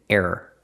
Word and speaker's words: error: An error screen, not an air screen, an error screen. There are 2 syllables.